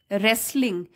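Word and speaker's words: wrestling: during a रेसलिंग match रेसलिंग यहां पर W silent है तो रेसलिंग बोलेंगे रेसलिंग मींस कुश्ती का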